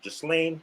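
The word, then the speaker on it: Ghislaine: let's segue into that uh how do you pronounce this fish name just lane just lane maxwell yes yeah he pronounced his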